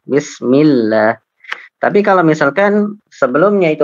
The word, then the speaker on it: Bismillah: Kalau sebelumnya berharokat kasroh maka tidak, seperti Bismillah. Ya, itu tipis lamnya. Bismillah.